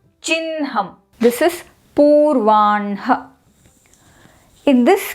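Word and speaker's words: चिह्नम्: It's not chihnam, it is chinham.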